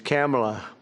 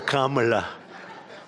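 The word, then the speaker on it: Kamla: Cam as opposed to Kam.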